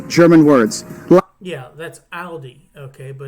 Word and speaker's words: Aldi: German words yeah that's Aldi okay but it's probably not pronounced Aldi in Germany like Aldi Ali is just Aldi there is no s at the end it's not Aldi's it's well again that